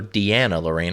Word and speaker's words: DeAnna Lorraine: diana for congress yes diana lorraine or deanna lorraine on how she pronounces it she's running for congress